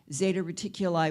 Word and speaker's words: Zeta Reticuli: that way either in the united states we spell it r-e-t-i-c-u-l-2-i's it's a binary star system zeta reticuli one and two how many are familiar with the betty and barney hill case from 1961.